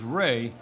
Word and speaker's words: Wray: Cathy and you see my name is Ry but I spell it w a y I was looking to